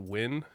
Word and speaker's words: Nguyen: bit listen okay the fact that Nguyen is pronounced to win that one that one's real hard so I